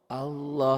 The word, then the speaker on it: Allah: Ada yang baca Allah, ada yang baca Allah. Antara W dan L. Allah tuh bunyinya kayak gitu.